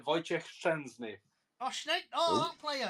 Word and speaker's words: Wojciech Szczęsny: Well, obviously he's former Arsenal keeper, but it's pronounced Wojciech Szczęsny.